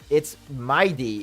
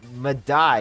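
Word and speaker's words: Mydei: Is it, or is it Mighty? Sorry, it's not Madai. I'm sorry, I always refer to this as Madai or Madai. It's Mighty. It's not Madai.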